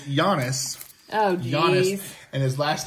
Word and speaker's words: Giannis: talk goon bow okay first of all it's Jonas Jonas and his last name is pronounced honour to compass because I already have